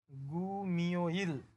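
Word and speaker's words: 금요일: পরেরটাও পরিবর্তন হবে, এখানে মিউম বাসিম, মিউমের পরে ইউং আছে, তাহলে এটার উচ্চারণ হবে গু মিও ইল, গু মিও ইল, শুক্রবার।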